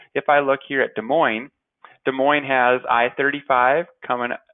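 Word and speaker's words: Des Moines: weird way to spell that too but it's pronounced De Moine that's the I see the star state capital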